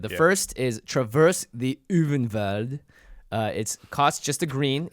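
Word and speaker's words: Ulvenwald: If it's German, it's Uvenwald, I think, because the W's are V's. Or maybe the V's are W's.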